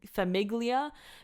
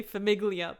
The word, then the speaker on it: famiglia: the G and not say fami famiglia because some egg Lea is like blasphemous don't say familia please but obviously the first